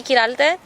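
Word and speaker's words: Qiral: students thank you my name is kiral and it is spelled c Dy q i r a l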